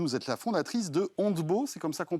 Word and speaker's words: Ontbo: d'être avec nous vous êtes là fondatrice de handbow c'est comme ça qu'on prononce absolument très bien alors expliquez-nous parce que